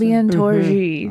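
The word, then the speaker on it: Albion Tourgée: Albian Tori, is that how you pronounce? Albian Tori.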